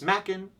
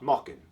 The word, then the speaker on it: Machen: I often tell people, it's Machen like Kraken, not Mockin like Dockin.